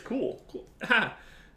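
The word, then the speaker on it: Kuhl: going before the Pirates am I saying that correctly is it cool is it cool I'm really bad at pronouncing dams I think it's just from where I'm from it's cool that's outstanding why the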